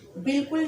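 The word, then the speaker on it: بالکل: ठीक है, बिल्कुल में बे अलिफ लाम काफ लाम। ठीक है, और इस तरीके से जो बिल्कुल लिखा हुआ है ये गलत है। बे लाम काफ लाम नहीं लिखा जाएगा। ये बिल्कुल बे अलिफ ज़बर बा, लाम काफ लाम लिखा जाएगा बिल्कुल।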